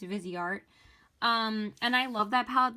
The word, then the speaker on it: Viseart: Sorry, I keep on mispronouncing it. It's Viseart.